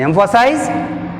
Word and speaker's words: emphasize: In emphasize, emphasize 1 2 3 emphasize. See here, third syllable from the end means M-E, so that's why take stress on the third syllable from the end.